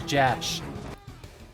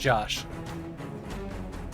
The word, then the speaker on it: Jash: This is Jash. Probably pronounced Josh. Dash. Or Jash.